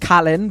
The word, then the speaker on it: Kaylin: who is actually Kaylin. pronounced Kalin, but I kept saying Kaylin throughout the entirety of the podcast, Yeah, and I'm still not happy.